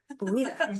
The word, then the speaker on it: Buitta: And Buitta, did I pronounce that correctly? Yes. Buitta, thank you.